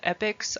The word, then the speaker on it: epochs: divide the more recent periods into are called epics i know it's spelled like it should be pronounced epochs but it's it's epics and these are the shortest time time periods